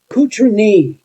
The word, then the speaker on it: Cotronei: Cotroneii is the town that they were from. That's how it's pronounced.